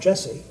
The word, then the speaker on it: Jesse: JavaScript, a subset called Jesse. And Jesse, it's spelled like the person's name, Jesse, but it's actually an acronym for JS, JavaScript, E.